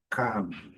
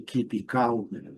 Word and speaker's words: calm: esse símbolo aqui, keep calm. Aqui, lembrando, letra L, essa combinação, o L não é pronunciado, e o N com a boca fechada ao final. Calm. Nada de keep calm, ok?